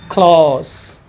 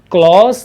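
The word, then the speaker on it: close: वहाँ पर इसका प्रोनाउंसिएशन क्लॉज था, क्लॉज था। वहीं पर जब ये एडवर्ब या एडजेक्टिव या नाउन के तौर पर यूज़ होगा तो यहाँ पर इसका प्रोनाउंसिएशन क्लॉस होगा।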